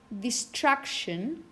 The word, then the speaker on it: distraction: have a word like distraction, how many syllables do you have? 3. Distraction, distraction. Where do you have the stress? What syllable? Track. Distraction. So it's the penultimate syllable.